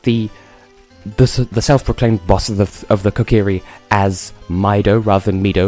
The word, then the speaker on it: Kokiri: self-proclaimed boss of the Kokiri as Mido rather than Mido, because as a child I didn't know that Japanese was a thing. Well, I kind of did. I mispronounced Kokiri as Kokairi, and so if I lapse